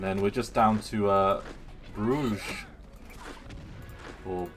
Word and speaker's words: Brugge: And then we're just down to Bruges. Or Brugge. Zeebrugge, I think is how it's normally pronounced.